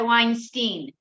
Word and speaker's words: Weinstein: 18th century, but then it changed, then the pronunciation. Yes. Changed. So you go by Weinstein.